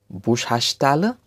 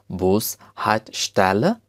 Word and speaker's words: Bushaltestelle: In Germany, bus stop looks like this and it is pronounced as Bushaltestelle. Bushaltestelle.